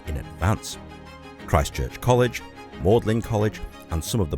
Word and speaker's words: Magdalen: This place is pronounced Magdalen, not Magdalen. Who knew?